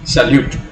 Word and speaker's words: salute: Where do you put the stress on salute? right? On you, salute.